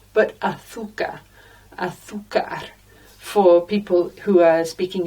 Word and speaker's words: azúcar: In Spain, the letter Z is pronounced with a th. Now, I don't do that because I learned to hablar español in Peru, and there is no lisped Z in Peru. So it's azúcar for me, but azúcar for people